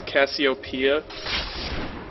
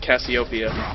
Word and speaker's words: Cassiopeia: Apparently I'm being told it's Cassiopeia, not Cassiopeia. Hey man, to each their own. You want to say Cassiopeia? Well, actually, it is a name of something from Greek mythology, so there is a correct way to say it in an incorrect way.